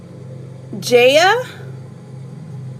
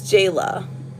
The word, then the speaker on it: Jayla: Um, Ja or Jayla? It's Jayla.